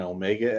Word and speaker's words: omega: Sine omega x, cosine omega x.